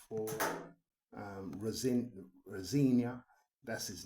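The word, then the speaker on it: Rosenior: out of 7 for Rosinia. That's his name now. I know that's how they pronounce it on the television network. So it's Rosinia. That's not usually how you pronounce that surname, but I'm not going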